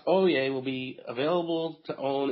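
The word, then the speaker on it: Ouya: Well, the first ever Android-powered console, I believe it's pronounced Oye, will be available to own in the U.S.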